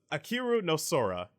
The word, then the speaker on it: Ahiru no Sora: The first one I saw, which was Ahiru no Sora.